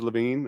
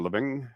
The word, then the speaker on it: Levine: not from Quebec uh my last name's Levine or living it depends where you are and how you say it uh I'll take